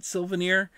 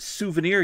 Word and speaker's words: souvenir: my mother also pronounces it svir so I pronounce it svanir and then I've got my wife who goes It's pronounced souvenir you dumb but what a